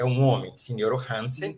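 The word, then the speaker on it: sinjoro: Signoro Hansen é signoro, ó, não é sinioro, é signoro, 3 sílabas.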